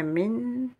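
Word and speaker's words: من: Alors, le fait qu'il n'y ait pas de soukoun, et ici vous n'avez pas de shedda, c'est juste pour la prononcer, comme on dit, très légèrement. Ouais, min.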